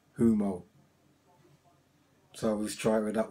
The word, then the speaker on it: Humo: another way she go one of the best way to to keep it in your head is think of sumo humo so let try with